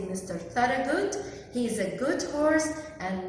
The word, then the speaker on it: Thorogood: Thorogood. خلي بالك قوي من الاسم ده، كبير شويه، فيه حروف كتيره silent ما بنطقهاش، بس اسمه Thorogood.